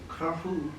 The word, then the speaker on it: Carrefour: I get mine from, wait, Dan, how do you say it again? Carrefour. Carrefour. Carrefour. Carrefour. French. It's French.